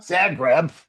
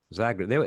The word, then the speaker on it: Zagreb: Not Zagreb. Zagreb.